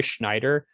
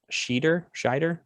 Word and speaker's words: Scheider: Roy Schneider is Scheider, how do you say his name?